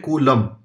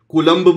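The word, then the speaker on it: coulomb: है कूलम ठीक है स य एल ओ एम बी इसको बोलते हैं कूलम बी को प्रोनाउंस नहीं करते हैं लेकिन आप कर दो तो भी प्रोनंसिएशन तो मार्क्स मिलने नहीं वाले कलंब बोलना है तो कलम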